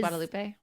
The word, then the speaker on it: Guadalupe: Where everyone pronounces it Guadalupe. And it is Guadalupe.